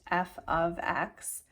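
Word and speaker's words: f(x): F parenthesis X but it's pronounced f of X it's not multiplication so they've got that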